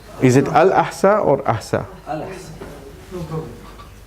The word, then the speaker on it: Al-Ahsa: How do you spell it? A-H-S-A? Yes. Is it Al-Ahsa or Ahsa? Al-Ahsa.